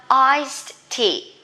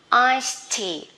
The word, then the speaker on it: iced tea: For drinks, we have iced tea, okay? Ice, C-E-S, and then E-D after S. We pronounce T. Iced tea.